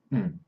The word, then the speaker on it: and: Okay, so first of all, and is often pronounced mm.